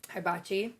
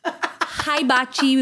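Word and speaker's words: hibachi: my cool yeah so for Thanksgiving we did hiachi sayar hiachi what was the what's the first syllable hiachi she's going hiachi like and she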